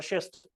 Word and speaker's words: schist: GNEISS वही है gneiss, ये स्पेलिंग याद कर लो अब। GNEISS gneiss और schist SCHIST schist SCHIST।